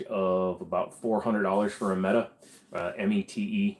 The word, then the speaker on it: Mete: You can usually get those somewhere in the range of about $400 for a Meta. METE. We pronounce it Meta just because it's the simplest way to do it.